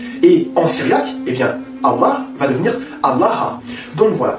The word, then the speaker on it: Allah: Je te répète encore une fois, la bonne prononciation, c'est Allah et non Allah.